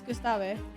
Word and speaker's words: Gustave: Is that not the correct way to say Gustave? I thought it was. No, the E is not silent because it's French. It's not like Gustave. You have to pronounce the E at the end.